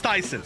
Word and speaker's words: Tayson: just seeing ton saying it's pronounced Tyson so it's not tyon it's Tyson well I missed that